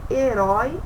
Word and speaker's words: herói: Então a gente percebe herói e foi. Herói, ele tem o som mais aberto. E foi o som mais fechado.